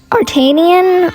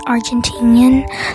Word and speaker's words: Argentinian: I'm sorry, it's actually pronounced Argentinian.